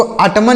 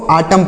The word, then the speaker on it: autumn: AUTUMN, तो इसे क्या पढ़ेंगे, इसको अटमन नहीं पढ़ना है, AUTUMN, तो अटमन नहीं पढ़ना है, क्या पढ़ना है, इसको आटम पढ़ना है। यहाँ पर यन साइलेंट है, यन क्या है, साइलेंट है, तो इसको आटम पढ़ेंगे।